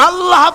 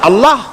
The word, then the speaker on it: আল্লাহ: বোধ নিশ্চয়ই মনে আছে আল্লাহ এই উচ্চারণটা আমাদের অনেকের হয় না কেউ বলে না আল্লাহ আল্লাহ পাকের উচ্চারণটা হচ্ছে আল্লাহ পাকের নাম হচ্ছে আল্লাহ মুখটা একটু গোল হয়ে যাবে বলেন আল্লাহ [চিৎকার